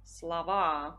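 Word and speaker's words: слова: come quello lì evidenziato eh l'accento tonico si sposterà sappiamo che quando si forma il plurale di un sostantivo se quel sostantivo è del genere neutro e e consiste solo di due sillabe l'accento l'accento tonico quasi sempre si sposterà e noi troveremo parola slova parole Slava Poi troviamo la parola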